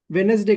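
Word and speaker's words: Wednesday: वेनसडे very good next वेनसडे कहेंगे D silent होता है ठीक है वेडनेसडे हां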